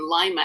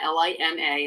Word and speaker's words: Lima: going to be in Lima l i m a and it's pronounced like lima bean not Lima Peru um it's going to